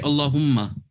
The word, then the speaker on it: Allahumma: But when it comes to Durud Ibrahim, you just say Allahumma. You don't need to stretch it.